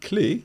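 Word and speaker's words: clef: c-l-e acute and then clay c-le-f with a silent F at the end as Mike said that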